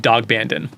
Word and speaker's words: Daghbandan: How do you do you pronounce it? Good. So It's dog Bandon.